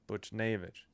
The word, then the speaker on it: Buchnevich: Buchnevich. That's it, Buchnevich.